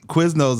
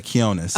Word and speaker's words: Quionez: Quiznos is definitely one. Quionez. I've gotten a lot. Yeah, Quionez.